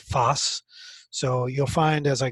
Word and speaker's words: FOSS: open source software that's sometimes referred to using the acronym Foss and that's pronounced Foss so you'll find as